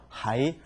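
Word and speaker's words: 还: 그다음에 하이 부사일 경우 하이 아직도 또한 그리고 더 이런 말이죠. 이때는 하이라고 읽어 주지만 동사를 쓰일 경우 돌려주다 할 경우에는 호안이라고 읽어 줍니다.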